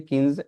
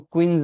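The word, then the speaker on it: quinze: में ऐसे लिखते हैं लेकिन उ पढ़ते हैं किंज इसको क्विंज नहीं पढ़ना है किंज तो कभी भी क्यू यू आई आए तो उसका उच्चारण हमेशा या तो की होगा उसका उच्चारण हमेशा की ही होगा है ना तो किंज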